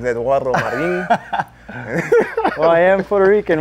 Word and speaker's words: Eduardo Marin: You have to say it like that. My name is Eduardo Marin.